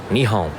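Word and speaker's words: 日本: Do any of you know how to say Japan in Japanese? Nihon, right?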